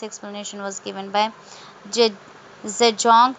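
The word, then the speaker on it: Zajonc: This explanation was given by Je- Zedong. This name is pronounced to rhyme with science.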